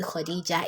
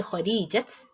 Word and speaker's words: Khadijah: So, but for easy, you can't just say Khadijat. So you have to say Khadijah. So there you represent it with ta marbuta, but the pronunciation will be that of ha.